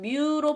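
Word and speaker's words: μ: 쌍극자 모멘트는 뮤로 표시를 합니다. 뮤. 얘를 뮤라고 읽고요.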